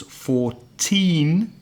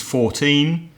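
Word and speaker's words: fourteen: Usually, the lower number, the number in the teens, 14, has the stress on the second syllable. So it would be da, 14, 15, 16, etc.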